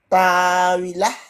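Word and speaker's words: طاولة: Et à l'arrêt? Tawilah. Très bien.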